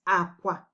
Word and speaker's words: akwa: So if you say, for each one you say, you have to get the right tone. So for bed, it's Akwa, Akwa, lo, lo, Akwa, Akwa, Akwa, bed, Akwa, bed.